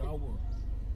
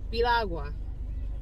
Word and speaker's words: piragua: The guy it's said Pirawa. The guy told me it was slushy. But in Spanish, we call it Piragua. Yes. Well, Piragua is how you pronounce it.